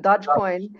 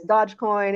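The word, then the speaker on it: Dogecoin: ago that he's the dog how do you pronounce it dodgecoin and that's the value of the coin scoring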